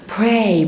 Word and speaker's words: pray: او الصلاة ذات نفسها اسمها pray بطلع هوا في البي فبقول ايه؟